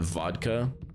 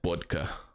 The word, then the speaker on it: vodka: it was funny that vodka is spelled with the cerillic character that looks like a B, but you're supposed to pronounce it as a V, but then my teacher would always call it bodka.